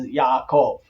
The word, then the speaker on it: Yaakov: name Jacob Wright is Yaakov why why did it turn into a J because the first Bibles that were translated were translated into the German and the letter J in the German is is said like